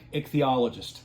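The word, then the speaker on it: ichthyologist: simply because and I did get the correct pronunciation. Um eichthologist.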